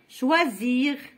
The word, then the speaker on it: choisir: Raison, choisir, le verbe choisir. Le S entre I et I, entre deux voyelles.